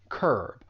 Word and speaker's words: curb: There's just one syllable, curb. But that u has more of an vowel sound.